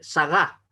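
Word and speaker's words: שרה: Por ejemplo, el nombre en hebreo, el nombre de Sara se dice Sagá. Se carga en la última sílaba.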